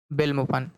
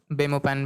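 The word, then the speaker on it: Belmopan: ठीक है, तो ये बेलाइज, और इसकी राजधानी क्या है, बेलमोपन। ठीक है, या इसको आप बेमोपैन भी बोल सकते हैं, जैसा भी आपको उच्चारण करना हो।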